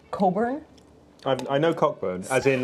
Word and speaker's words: Cockburn: up with these things there's a cockburn but it's pronounced Coburn I know cockburn as